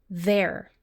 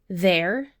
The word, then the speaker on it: they're: You want to pronounce this like it's one word, there. In fact, all three of these words have the same pronunciation. There, the contraction, there for location, and there for possession.